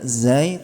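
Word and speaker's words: زاي: Kalau zai ditulis z. Padahal z dalam bahasa Indonesia kan boleh aja ngeses, tapi kan zai enggak boleh ngeses.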